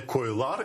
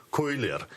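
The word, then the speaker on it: köyler: коли змінюється, наприклад, множина, щоб звучала не «койлар», і це буде неправильно, а щоб звучала «койлер».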